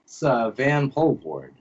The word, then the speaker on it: Vanpoelvoorde: name I've known you for like 15 years vanpool board and all right all right